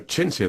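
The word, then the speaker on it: Chintzia: So, Chinsia, that's an unusual name. That's spelled C H I N T Z I A.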